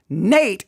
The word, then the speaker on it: Nate: I think I said Nick. Nate is the correct first name.